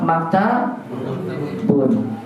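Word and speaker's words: مَكْتَبٌ: Contohnya maktab, kita bacanya apa? Maktabun. Kita bacanya apa? Kita bun. Kolam kita bacanya kolam mun. Masjid kita baca masjid, asalnya tanwin semua.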